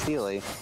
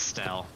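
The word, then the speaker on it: Stelle: I've always heard it pronounced Steely, but okay. No, it's Stell. I'm pretty sure because it's short. It's short for Stellaron.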